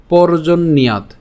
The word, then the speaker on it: পর্জন্যাৎ: এরপর পর্জন্যাৎ, এখানে কি হচ্ছে, পর্জন পর্যন্ত আমরা উচ্চারণ করলাম। এই যে পর্জন এখানে কেন, যে রেফটা আছে, এই রেফের কারণে র উচ্চারণ হচ্ছে, তাহলে পর্জন।